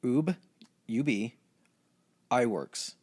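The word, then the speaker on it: Ub Iwerks: guy named this is a pretty crazy name U UB I Works i w rks and I heard it pronounced several times so Uub I Works um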